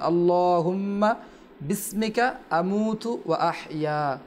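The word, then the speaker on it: بِسْمِكَ: এখানে জাকির ভাই, জি, বিসমিকা, এটা এখানে যে হামজারা রয়েছে এটা হামজা ওয়াসলি বলে। যখন আমরা মিলে পড়বো আমরা বলছিলাম ওই হামজারার উচ্চারণ হবে না, আল্লাহুম্মা বিসমিকা, হামজারা উচ্চারণ হবে না, আল্লাহুম্মা বিসমিকা আমুতু ওয়া আহইয়া।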